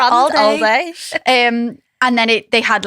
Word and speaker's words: AL-DAY: And they had, it was like on the branded van, they had AL-DAY, like not like Aldi, all day. Which I think you should pronounce it all day.